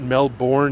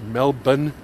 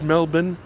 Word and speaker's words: Melbourne: hogmanay and in Edinburgh and know that it's pronounced Edinburgh and hasn't everybody been to Australia and knows that it's not Melbourne it's Melbourne doesn't everybody know it's Melbourne and Edinburgh come on people educate yourself get